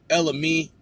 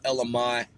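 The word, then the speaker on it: Ella Mai: with my review of Ella me her name looks like it should be spelled Ella my she was on The Breakfast Club I heard it being pronounced Ella me I heard multiple individuals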